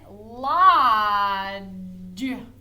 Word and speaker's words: lodge: Lodge. Lodge. This makes that J sound, right? Lodge. Does it say O? It doesn't say O. It says which is a short O sound.